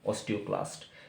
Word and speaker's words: osteoclast: मैं फिर से प्रोनाउंस कर रहा हूँ, इसका नाम OSTEOCLAST, ऑस्टियोक्लास्ट, ठीक है।